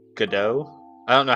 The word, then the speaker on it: Godot: Or I guess it's pronounced Godot.